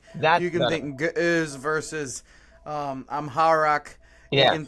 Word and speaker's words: Ge'ez: And so, they put it in Greek, in Slavonic, they had it in Ge'ez, is that how you say it?